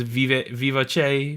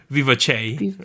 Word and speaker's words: Vivace: I can't pronounce that song. Vivace. Vivace. Vivace. Okay, like I thought it was going to be like Vivace or something, but then I listened to the song and they clearly say Vivace.